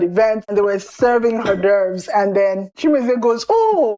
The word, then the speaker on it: hors d'oeuvres: And it's read hors d'oeuvres. It's a French word.